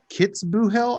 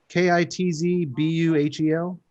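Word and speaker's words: Kitzbühel: you help me with this pronunciation kits boo hell austria k-i-t-z b-u-h-e-l kitts boo hole kiss goal kitzbuh kisabo australia back in february of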